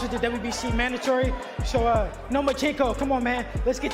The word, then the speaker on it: Lomachenko: You are now the mandatory challenger for Vasiliy Lomachenko's 135-pound title. Do you believe at 20 years old, you're ready for that type of challenge? I think you said his name wrong. It's Lomachenko, because he doesn't want to fight me.